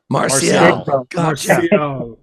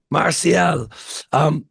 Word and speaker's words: Marcial: Is it hard C or soft C in the middle? I'm not sure what either one of those are. MARCIAL? It's MARCIAL. MARCIAL.